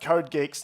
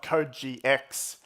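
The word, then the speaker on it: CodeGeeX: University Professor jitong there assures me that it's pronounced code Geeks not code GX I think I would have put picked code GX this model is slightly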